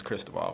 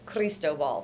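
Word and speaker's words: Cristóbal: So 6 years ago, we had Cristobal. That's how they told us to pronounce it, Cristobal. And I got, rightfully so, viewers who can speak Spanish very well and said I pronounced it wrong. And so I think it's Cristobal.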